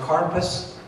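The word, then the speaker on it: karpas: you will find some parsley and Hebrew is pronounced carpus and there also will be on your seder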